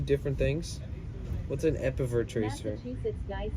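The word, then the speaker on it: EPEVER: Is that how it's spelled? E-P-E-V-E-R? Epiver? Tracer? And a series. Are those 2 different things? What's an Epiver tracer?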